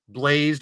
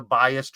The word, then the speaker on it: Blaised: that because if you search YouTube for b l a i s d blazed radio I've been called blessed radio biased radio um but it's for